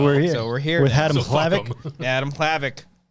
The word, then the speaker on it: Hlavac: here with adam adam clavic what do people say you said you were surprised clavic yeah they say um i don't know